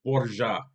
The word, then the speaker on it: Borgia: The name Borgia is actually an Italian pronunciation. So the pronunciation of the family name in Italian is Borgia, Borgia, but in Spanish it's Borja. Again, Borja, Borja with the silent J.